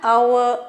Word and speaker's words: hour: The train came an hour late because H is silent here.